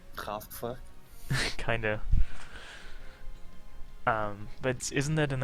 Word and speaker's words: Kraftwerk: Can you say the German pronunciation? Kraftwerk.